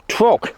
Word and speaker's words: trough: But that's the stopcock for the trough, or trock, as they say up here, because they don't pronounce trough as trough, they pronounce it as trock.